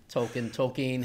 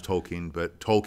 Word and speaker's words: Tolkien: Tolkien. Well, Tolkien is how the Brits pronounce it. I used to pronounce Tolkien, but now because it's actually, they say Tolkien.